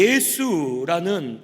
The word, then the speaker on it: 예수: 그가 자기 백성을 저희들의 죄에서 구원할 자라는 뜻이에요.이 예수라는 발음은 헬라어 발음입니다.